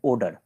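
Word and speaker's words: Oder: river का नाम है ओडर ओडी ई आर ओडर बोलते हैं ऑर्डर मत इसको पढ़ दीजिएगा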